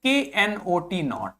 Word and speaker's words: knot: एक होता है KNOT नॉट। और मैंने आपको प्रोनाउंसिएशन वाली क्लास में बच्चों आपको बताया था कि KN को हम ना ही प्रोनाउंस करते हैं, KN को हम कभी भी कनॉट नहीं बोलते।